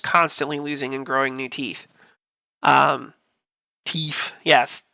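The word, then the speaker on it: teef: They're just constantly losing and growing new teeth. Teeth. Yes, pronounced teeth.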